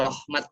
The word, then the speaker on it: Rohmat: Saya Rohmat ya. Tadi dari MC mungkin salah pelafalan jadi ra bukan ro. Nah, kalau saya dibacanya pakai o.